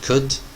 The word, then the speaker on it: could: have pay attention to the word could okay L is silent pay attention to the